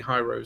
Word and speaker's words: Hirose: And it covers basically all of the Cherry MX series, including Hirose switches or Hirose switches, depending on your pronunciation. Hirose.